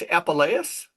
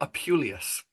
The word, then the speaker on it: Apuleius: a fable based on His name is pronounced Apuleius. Wow. yeah, I've always said Apuleius. You know, Apuleius.